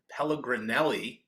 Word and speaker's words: Pelligrinelli: with Benny Gold today we welcome in David pellegrinelli president at active Intel located with locations in